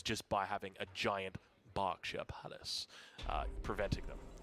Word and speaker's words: Berkshire: by having a giant berkshire palace uh preventing them you've got to say it like that that's how the english say it it's not berkshire it's a is coming